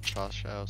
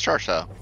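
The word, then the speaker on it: 叉烧: Chashao seems close. Ish. What's pork? I thought it was more like bouton is like pork. cha sounds Chinese, not Japanese. Maybe I've been hearing the Chinese pronunciation. Ow! Frickin' turrets. Yeah, it's Char Shao.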